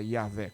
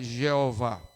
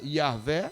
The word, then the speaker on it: Yahvé: Eles não pronunciavam a palavra Yahvé. Quando eles liam o texto onde tem a palavra Yahvé, eles pronunciavam Adonai. E por causa disso é que nós temos uma pronúncia provavelmente equivocada, Jeová.